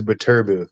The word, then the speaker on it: Beterbiev: like 'cause I used to say Beterbiev, but it was like it is Beterbiev. That's how I, you should pronounce it.